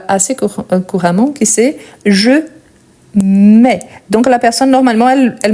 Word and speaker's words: mets: Je mets. Ça existe, mais à la troisième personne. Donc, ici, c'est toujours avec TS. On ne les prononce pas.